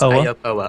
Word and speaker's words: Aopoa: So I'm gonna try and pronounce this. The Aopoa. Aopoa. Aopoa. It's Aopoa.